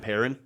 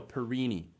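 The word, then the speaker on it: Perrine: way that it's spelled, I originally thought it was Erin Perrin. I don't know. That's kind of an interesting tidbit there, like Erin Perrin. Oh, no, Perini.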